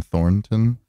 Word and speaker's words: Thornton: I wanted to ask you, is that middle end just silent, or is the correct pronunciation Thornton? I guess it is Thornton. Yeah, that's so like laborious that like yeah. Everybody just says Thornton.